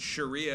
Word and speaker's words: Sharia: Uh, I think I would pronounce it Sharia if I wasn't doing a hilarious joke where I said Shakira.